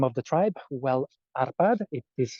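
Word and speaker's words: Árpád: six is the largest tower that represents the arpad tribe that would be the tribe from which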